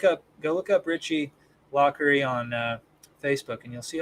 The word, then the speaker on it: Laughery: at home can see that is pronounced lockery yeah okay so it's